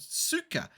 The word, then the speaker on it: Suica: In Japan, it's called Suka, but I don't think it's spelt that way. Hang on. I think they may have changed it because they couldn't get the copyright. Probably. Hang on. Japan Suka. Yeah, it's not spelt that way. I picked up on that just then. It's spelled Suica, but here they've gone I sucker.